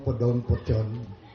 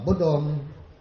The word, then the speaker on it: bodong: same the same thing They only pronounce it differently so bodong podong if you hear those words Paras lang Ian okay so Uh bodong as narrated by our